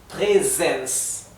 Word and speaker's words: Präsens: Präsens, ¿sí? La S final se pronuncia como una S suave.